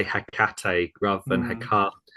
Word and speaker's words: Hecate: I think both for Hecate and Ba'al, actually. Is that right? Yes. So with Hecate, you're rubbing off on me with how you Yeah.